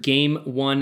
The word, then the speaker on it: G4ME ONE: review of the seiser game one headset again that's game with a four replacing the a it's really leite to